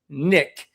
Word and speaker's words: NIC: At Marine Corps recruit Depo Paris Island, we referred to new drill instructors as Nick, pronounced NIC K, but spelled NIC.